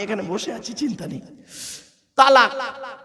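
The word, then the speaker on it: طلاق: তালাক। কি বলে? শব্দটা কিন্তু তালাক নয়, শিখে যান আজকে। শব্দটা তালাক নয়, শব্দটা হলো কি? তলাক।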